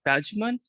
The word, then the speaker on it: Pajooman: the society and today my guest is pageman that's how you pronounce it okay is a nutritionist here